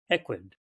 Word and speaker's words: equid: So maybe just tell us a little bit about, Is it pronounced the genus or the species is Equus or Equus? Equid, equid.